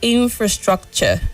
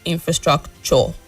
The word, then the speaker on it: infrastructure: The word is infrastructure and not infrastructure. You said it. The last syllable has a weak sound as well.